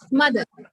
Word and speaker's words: mother: Mother, R is silent.